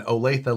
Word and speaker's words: Olathe: olathe well for one olathe looks nothing like olathe it looks like olaf nobody knows that that